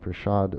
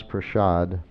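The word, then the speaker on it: prasad: a is prad sh like an S with an sh but it's not spelled that way it's spelled prad so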